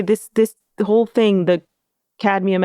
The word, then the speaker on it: cadmium: Cadmium. Cuz it's the you know, like it's not cadium. You know, cadmium.